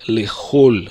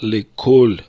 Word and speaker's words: לכל: Обратим также внимание, что в нормативном иврите, в произношении, нужно сказать «лехоль аисраилим». В обычной речи это не соблюдается, и в обычной речи говорят «леколь аисраилим». Не «лехоль», а «леколь».